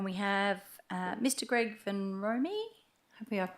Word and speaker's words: Vanrompe: Greg Ven Romi. Hopefully I've pronounced that right. Is it Romy or Rome? Uh good evening everyone. My name is Greg Vanrompe.